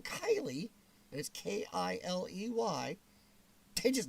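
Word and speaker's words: Kiley: very much on here my name is actually kylie and it's about k-i-l-e-y and it is not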